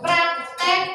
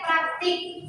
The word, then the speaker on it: praktik: Contoh yang terakhir, praktek, praktik. Yang benar adalah praktik. Pernah kalian dengar praktikum? Pernah. Bukan praktekum kan? Nah, yang benar itu praktikum.